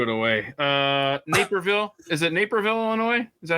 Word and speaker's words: Naperville: Is it Naperville, Illinois? Is that how you pronounce it? Yeah. Oh, it was Naperville. Napierville.